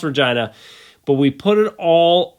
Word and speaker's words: Regina: kind of comical because it it should be Regina but it's pronounced Regina but we put it all on the line